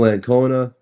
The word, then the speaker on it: Ancona: This week, our guest is and Connor. Did I say your last name correct? Anona.